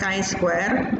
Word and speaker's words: chi-square: Setelah itu kita klik statistics kita akan aktifkan Kai Square jadi mesin kebun tulisannya chi-square tolong bacanya Jalan cie bacanya e nice where kemudian